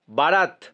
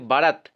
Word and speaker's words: বরাত: actually বারাত যে উচ্চারণটাতে কিন্তু দেখবে বারাত কিন্তু বারাত হয় না হয় কিন্তু বরাত তো বয় কাটা র